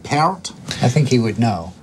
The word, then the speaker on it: Peart: It's just Peart. You sure that it's not Peart?